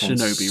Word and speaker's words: Shinobi: That Shinobi GPS is great, and I'm hoping I pronounced Shinobi so right.